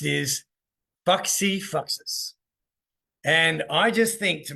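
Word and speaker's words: fac si facis: do in Latin and what how it is pronounced is Foxy foxes and I just think to myself and I'm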